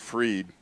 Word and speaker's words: Fried: running against DeSantis for governor along with Nikki's Fried. It's spelled F-R-I-E.